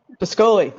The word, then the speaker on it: Pascoli: Pasquale? Pascoli, thank you.